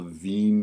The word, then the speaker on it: Wien: here is called the ven displacement law and V is it's a German name so it's spelled like that um and basically the